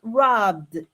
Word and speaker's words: robbed: In that case, we are going to pronounce robbed with a D final, yes?